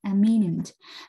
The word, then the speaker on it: eminent: Hai từ này thì nó có cái đuôi minent giống nhau, thế nhưng mà cái cách đọc thì khác nhau, một là imminent và hai là eminent, và nó đều là